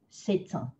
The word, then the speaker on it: c'est un: So if you see these two words, c'est and un, you're gonna take that T and pronounce it so that you can do a liaison. C'est un, c'est un.